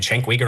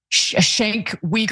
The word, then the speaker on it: Cenk Uygur: I grew up watching Anna Kasparian and Cenk Uygur on the Young Turks.